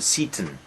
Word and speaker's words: Seyton: Probably we should pronounce it Satan, but a natural pronunciation is Satan.